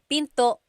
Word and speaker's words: pinto: Door in Tagalog is pinto pinto. And remember, don't forget the glottle stop. Don't forget to stop the sound at the end. That's called a glottle stop. Pinto.